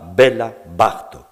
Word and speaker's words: Béla Bartók: L'accent tonique ne se place pas comme dans la langue française, il se place bien plus volontiers sur la première syllabe du mot. On dira Béla Bartók.